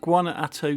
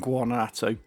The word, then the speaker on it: Guanajuato: Sur and Guanajuato, I think that's how you pronounce it, Guanajuato Sur.